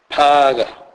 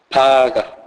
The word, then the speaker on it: phaga: It is never pronounced as in the English word phone, e.g., phaga, phaga, which means dish out or dish out food.